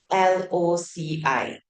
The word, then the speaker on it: loci: It's not the 地址, it's called the LOCI. Okay, like location like that. Okay. Do you know how you pronounce this? Loci. Same as Laosai, right?